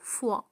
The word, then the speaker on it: fois: لدينا 3 كلمات تتشابه في النطق، لكن كل واحدة لها معنى. كي لا تخلطوا بينها، لدينا la foi هو الإيمان، و le foie avec E le foie هو الكبد، ولدينا une fois بمعنى مرة، fois بمعنى مرة avec S à la fin. Le foie, la foi et une fois.